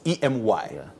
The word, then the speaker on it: EMY: The name is not me. EMY. It's emmy. Okay. So if you're pronouncing it wrong, but I mean it's fine. I mean you can call it but it's em. So emmy Africa.